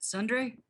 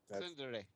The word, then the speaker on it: Tsundere: And that's the basis of the ship, is that she's being all what is it, Sundre? Is that how you say it? Today, yeah. Yeah. Whatever. Tsundere.